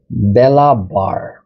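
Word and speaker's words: belabor: এটার pronunciation একটু important, so you need to pronounce these word like belabar.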